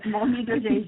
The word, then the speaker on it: Mony: It is Mony as exactly you pronounced it.